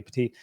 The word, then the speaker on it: Pettit: I've been saying Pettit, but apparently I've been saying it incorrectly. Petit, and also Amari Latimer, the guys ahead of them, especially at wide receiver.